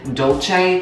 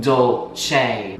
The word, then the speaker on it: dolce: how to say cinnamon dolce, and I found out that cinnamon dolce is pronounced dolce. Dolce. I found out it is Italian.